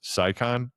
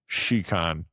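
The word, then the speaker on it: Scicon: You might think it's pronounced Saikon. It's pronounced Shiccon.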